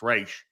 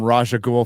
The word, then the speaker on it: Ra's al Ghul: the animated series and it was pronounced Raish. Is that similar for you, Gary? I was calling him Raja Ghul for years until somebody said it was Raish.